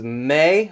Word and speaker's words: me: with an i sorry flat three is May with an e four is fa sharp